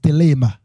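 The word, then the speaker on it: Thelema: So in the Greek, Alors, dans le grec, the word for will of God is telema. le mot pour la volonté de Dieu, c'est dilemme. Telema. I will spell it.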